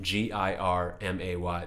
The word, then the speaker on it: Girmay: only two syllables but both syllables are impossible to pronounce if you just read them on paper because gir does not read dirt it reads jure to a lot of people and then ma Y doesn't read my it reads May to a